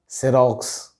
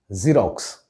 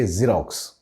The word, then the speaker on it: Xerox: pronounce this word is xerox just think of the tv channel z tv z rocks so you can shorten the z a bit and say xerox right it's not x